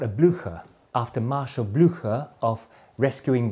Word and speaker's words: Blücher: In the US, the Derby closing style, they pronounce it Derby, it's also called a Blücher, after Marshal Blücher of rescuing Wellington at Waterloo